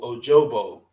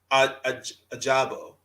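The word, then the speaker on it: Ojabo: has aiden hutchinson and he got david o ojobo ajabo thanks how you say his name like that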